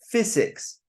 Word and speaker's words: physics: Physics, physics. Again, the letter Y here, we do not pronounce physics, physics. We don't say that. We pronounce it as a sound I.